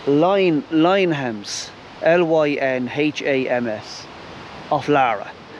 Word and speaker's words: Laragh: line hems l-y-n-h-a-m-s of lara l-a-r-a-g-h but you pronounce it lara so this is a